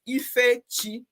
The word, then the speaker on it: Ife: i will tell you how to say my name is ife as simple as that it's a combination of